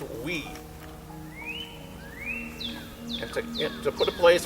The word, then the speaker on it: wi: It's W-I, it's pronounced we.